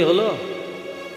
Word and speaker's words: হুলু: হলুদনি হলো, এসে হালকা বোঝা যায় না। আচ্ছা, মায়েরা মুখে করে যে শব্দটা করলেন এটাকে কি বলে? উলু নয়, বইয়েতে লেখা আছে হুলু, উচ্চারণটা হবে হুলু।